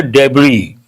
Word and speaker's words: debris: use the word debris the letter s is Silent not debris debris means